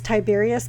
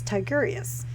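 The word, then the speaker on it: Tigurius: of tigerious sir see i always keep wanting to say his name is tiberius but i know that's not correct so i'm like no it's tigerius takarius uh yeah if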